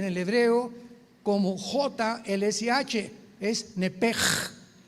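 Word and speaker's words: נפש: Nepesh se pronuncia en el hebreo como J-L-S-H, es nepej, nepej. Por eso el Espíritu Santo se pronuncia Ruach, se escribe Ruach, C-H, Ruach el Kadosh. Entonces la S-H se pronuncia como J en el hebreo.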